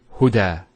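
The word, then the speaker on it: هدى: Now this is not actually a ya, it's an alif. It's called an alif maqsura, and it's exactly like an alif, the way it's pronounced. It's like a ya, without the 2 dots. So we say huda. There's the elongation as well, because the fatha followed by an alif.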